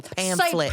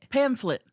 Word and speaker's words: pamphlet: I don't think there's a f. Maybe there's a ph. Pamplet.